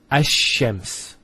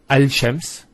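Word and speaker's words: الشمس: close what happens is this lamb is not pronounced and what happens instead is the Lamb is pronounced as a Sheen so there's a actually a shed there here so it's hashems not al-shems who's noticed when you say alchems it's not smooth rather than as shems which flows and is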